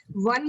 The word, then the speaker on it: one: वन में W की sound आती है.